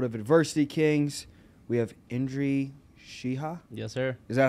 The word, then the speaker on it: Indri Shehaj: We have Indri Shehaj.